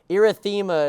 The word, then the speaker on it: erythema: Erythema is that one down there that's like a pinkish color behind it. It's pronounced erythema.